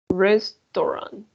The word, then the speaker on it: restaurant: don't forget please that in english a u for example australia people restaurant right so here you have a u we're gonna say australia sona restaurant yes so please jose